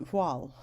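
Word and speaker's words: Voiles: The piece we're going to study is called Voile, and it's pronounced like wall, W-A-L-L, with a V immediately before the W.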